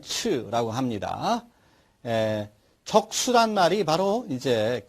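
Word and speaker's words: 赤: 뜻은 붉다, 빨갛다, 음은 적, 중국어 발음으로서는 츠라고 합니다.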